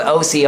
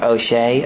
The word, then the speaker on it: Osea: it's called OC Island it's called OC Island and that's the title of the people I'm very surprised that you got the pronunciation right first of all because we've had like O'Shea osea you know I wasn't